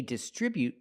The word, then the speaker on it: distribute: Example, they distribute their products from the distribution center. We see both words. They distribute their products with a stress on the second syllable. Distribute.